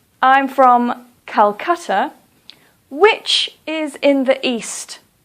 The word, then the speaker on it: Calcutta: or for example calcutta please don't say kolkata please say calcutta the reason that we